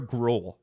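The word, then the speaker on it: Groulx: And Benoy Olivia Grl. Benois Olivier. Oh, is is it spelled with an X? Yeah, Grul.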